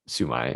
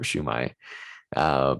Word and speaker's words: shumai: But anyway, my dish for dish it out is a dim sum favorite, sumai or shumai, depending on how you pronounce it.